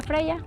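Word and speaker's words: Freia: ¿Cómo se pronuncia? Freya.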